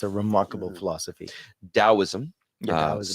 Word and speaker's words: Taoism: it's a remarkable philosophy taoism yeah that was spelled a taoism pronounced with a d spelled with a t is Chinese okay that's